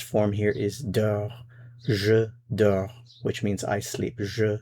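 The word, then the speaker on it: dors: Notice it's the same form, same pronunciation. Dor, dor. Je dor, tu dor. Il, elle, on dor. Same pronunciation, different spelling.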